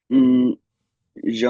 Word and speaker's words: je: Je mange un croissant aux amandes.